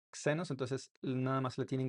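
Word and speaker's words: ξένος: La xi se pronuncia como una X en español, como en la palabra xenos, xenos, xenos.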